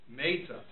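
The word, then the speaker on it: מֵתָה: Meta. On the first syllable, not on the second syllable.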